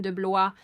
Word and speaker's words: DeBlois: réalisateur du film Dean Deblois h de de de Blois c'est comme ça qu'il le prononce Deblois de Blois c'est